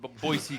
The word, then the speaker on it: Boise: It's pronounced Boise.